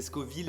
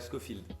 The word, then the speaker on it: Scoville: Et bah c'est la prononciation qui compte donc du coup c'est pas bon parce que c'est Scoville et pas Scowfield.